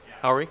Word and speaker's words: Houry: First up is Houry. I hope I'm pronouncing your last name correctly, sir. Close. Houry, thank you.